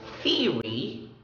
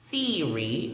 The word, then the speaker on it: theory: The more common pronunciation in the, well, as far as my experience is concerned, the pronunciation theory is more popular, but I really love theory. It's easier to pronounce and it's more defined.